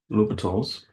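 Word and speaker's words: L'Hôpital: So number one use litals to find the limit.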